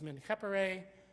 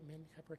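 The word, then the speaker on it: Menkheperre: And so can you match up, Menkhepere. Oh, by the way, you notice that the Re sign comes first, but is pronounced last, okay?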